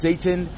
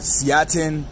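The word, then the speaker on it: seitan: Pronounced Satan, you can call it Seatin, whatever it is, but this is a really awesome protein that you can eat.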